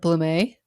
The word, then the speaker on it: Blumié: Her name is Blumié, right? Yeah, that's it. Yes, I thought it's spelled Blumiie, but it's French. So it's Blumié, correct? Yes, it's French Canadian.